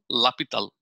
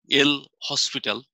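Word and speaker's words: L'Hôpital: What I am going to do, the name of the mathematician is this, but it is pronounced as L'Hopital. His name is this, L'Hopital, but it is pronounced as by L'Hopital.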